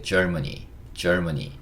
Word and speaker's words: Germany: 근데 이렇게 가만히 들어보시면 이것도 재밌는 얘기긴 한데 Germany 이러면 이게 약간 이렇게 들려요. 젊은이. 이봐 젊은이 이렇게 할 때 Germany.